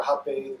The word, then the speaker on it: rapé: So rapé or rapé, depending on if you're pronouncing it in Portuguese, is a blend of